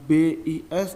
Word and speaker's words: bus: Seperti kata bis, ternyata tulisannya BIS itu menggunakan kata tidak baku. Kata bakunya itu bus, BUS, tetapi pengucapannya bis ya, seperti itu.